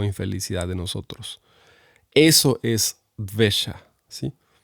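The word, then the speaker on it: द्वेष: Hay una palabra que es la palabra que les quería compartir, que seguramente no han escuchado, sí, que se dice así, se pronuncia dvesha, que viene del sánscrito, ¿no?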